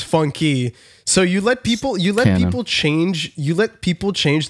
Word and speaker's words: FUNKe: It was supposed to be FUNKe because it's the tiny E. So it's like syllable, but so the canon one is FUNKe.